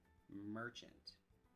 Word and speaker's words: merchant: meaning from the word, merchant. Instead of the short A sound, we use the schwa short U sound.